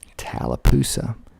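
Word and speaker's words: Tallapoosa: those peas are just are just killing me talapa t a l l a p o o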